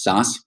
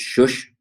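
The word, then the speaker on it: Szösz: sure if I can the way my family pronounces it is SAS but being in Eastern Europe the way it probably should be pronounced is shush but since there's nobody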